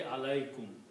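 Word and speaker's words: عليكم: And this is actually alaykum. Write down together, it will be pronounced as alaykum.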